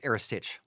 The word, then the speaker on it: Earasaidh: Now, the Earasaidh, it's just for everyone out there, Earasaid, Earasaid, in Gaelic is Earasaidh. We were corrected on that recently, and we are trying our very, very best to say it properly.